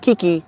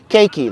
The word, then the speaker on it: Keiki: I'm also known as keiki keiki not Kiki because you bought you men never could pronounce my name correctly cakey like cake that you eat key that you turn cakey cakey cakey all